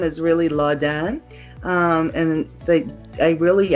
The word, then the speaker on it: Ladan: My first name is really Ladan. Um and they I really at a young age didn't like the way it sounded um when people pronounced it wrong. So I changed the pronunciation to Latin and I did not change the spelling.